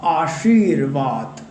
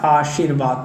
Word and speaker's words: आशीर्वाद: तो जब भी र का उच्चारण होता है ना, तो वो दूसरे शब्द के साथ जुड़ करके आता है। आशी श के बाद र का उच्चारण हो रहा है, तो वो किस में जाएगा, उसके बाद जो दूसरा अक्षर आ रहा है उसके साथ वो जुड़ता है, अक्षर बोलना चाहिए, ठीक है। तो वो किसके साथ जुड़ेगा, व के साथ जुड़ेगा, ना कि श के साथ, ठीक है।